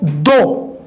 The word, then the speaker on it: though: Alright, और आगे दोस्तों दो, इसका जो सही प्रोनाउंसिएशन है वो है दो, और इसका जो वर्ड है TOUGH, इसका सही प्रोनाउंसिएशन है टफ।